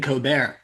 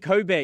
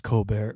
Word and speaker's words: Colbert: You keep saying Cobear, isn't it? Cob Bear. Coar, isn't isn't there an L in there? It's silent. The L is silent as well as the T.